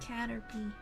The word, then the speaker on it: Caterpie: you're a real Pokemon fan if you can pronounce Caterpie correct I know that one Caterpie Caterpie I didn't know I did yeah I assumed